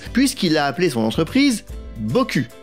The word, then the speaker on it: Boku: a appelé son entreprise Boku. Oui, ça se prononce à la française.